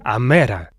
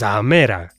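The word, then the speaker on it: ἡμέρα: They say amera. But it gets better. The mother is amati, and the day is amera. These are as exactly where Athens gives us e.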